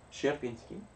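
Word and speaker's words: Sierpiński: the way SI e in polish is not pronounced here but share share share Pinsky and that means you don't pronounce in but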